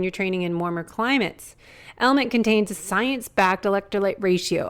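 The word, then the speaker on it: LMNT: our sponsors Ln element it's spelled l MNT but pronounced element if you haven't heard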